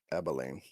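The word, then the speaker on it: Abilene: It really How is How is this How is the city in Texas actually pronounced? Abolene.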